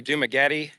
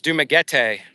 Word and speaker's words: Dumaguete: So instead of using my English accent, where I before would say Dumaguete, it's Dumaguete.